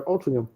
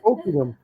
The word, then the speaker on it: Altrincham: You don't say the ch, no, you go Altrincham.